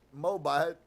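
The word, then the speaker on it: Moabite: stand the thought that she was a moabit pronounced moabit and different from his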